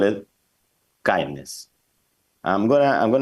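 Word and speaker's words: KINDNS: technical world uh so kindness means knowledge sharing and instantiation Norms from for DNS and naming security so this we pronounce kindness and it's basically that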